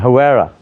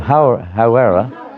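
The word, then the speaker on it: Hāwera: Hawera. Hawera. Say you're in Hawera. Is that how you pronounce it?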